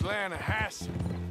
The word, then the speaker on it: Lanahatchee: Yeah, but it's pronounced Lanahassee.